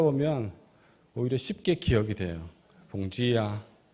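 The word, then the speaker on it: bom dia: 봉지야. 몽지예요. 할렐루야. 반갑습니다. 처음 인사 말을 배우는 우리 팀들이 좀 표현이 좀 이상하다. 음. 봉지를 얘기하는 건 아닌데. 근데 그렇게 하다 보면 오히려 쉽게 기억이 돼요. 봉지야.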